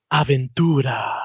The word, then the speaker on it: Aventura: Aventura.